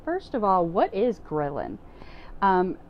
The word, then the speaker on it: ghrelin: of all what is grilling and it's not the barbecue grilling outside it's totally I had to look up the word just to see how to pronounce it it's GH reli in so grilling is a